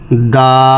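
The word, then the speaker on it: ض: জিম হা চাপ দিয়ে পড়তে হবে হা খ দা জাল নরম করে পড়তে হবে তিন আলিফ পরিমাণ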